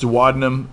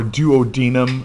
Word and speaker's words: duodenum: was it yes duodenum i've heard it pronounced duodenum or duodenum i don't know that either one of them is necessarily right or more right okay all right because